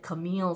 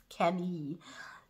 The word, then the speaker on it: Camille: that all right uh in my first video i think i said camille saison but it's not camille it's kenny in french so the first look